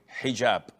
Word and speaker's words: hijab: you're referring to is hijab with an h and I know in France they don't pronounce the h when it is in the beginning of the word as in hotel or